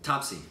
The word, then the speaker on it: Taapsee: Someone told me that I pronounced it right. Bachchan. Taapsee. Yeah. Is that Taapsee? I think it's just Taapsee.